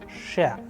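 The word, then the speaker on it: ш: Here we have the next letter is Sha, Sha. An English approximation which we have here to understand it properly is Sha in shoes.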